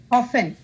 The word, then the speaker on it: often: we don't pronounce p t is silent so we call it often what is it Trinity